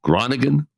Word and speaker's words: Groningen: Our featured guest today on behalf of Labor 131 is Jason Resnikoff at the University of Groningen. Is that the best way to pronounce it?